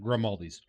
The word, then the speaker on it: Grimaldi's: Grimaldi's. Don't know how to spell it. Figure it the fuck out. Exactly how it sounds. Like Aldi's. We but like- grim.